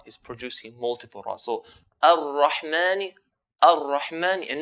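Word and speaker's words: الرحمن: So if I say ar-Rahmani, ar-Rahmani, I'm pronouncing the ra with one ra. Ar-Ra, ar-Rahman. If I say ar-Rahmani ar-Rahim, for example, ar-Rahmani, I'm producing multiple ra's. I'm doing the repetition.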